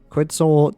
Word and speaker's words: Quetzal: Quetzal Tirado. It's pronounced an I for an I.